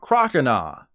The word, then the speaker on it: Croconaw: Then it evolved into Croconaw, which is said like oh hell nah, not Croconaw.